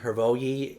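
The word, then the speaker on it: Hrvoje: out the name uh the author's name is herogie it's h-r-v-o-j-e and kovic it's b-u-t-k-o-v-i-c a Wizard's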